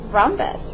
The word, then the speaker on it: rhombus: that at least since rhombus rhombus so are H at the silent h om bu s trumpets are you